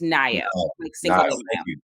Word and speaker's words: Nayo: give you heads up so my name is pronounced like Cinco de Mayo so it's ni thank you ni my